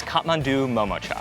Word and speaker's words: Kathmandu Momocha: full life although their dumplings are undoubtedly delicious pronouncing their name isn't easy it is kathmandu momocha and more specifically if you're just going to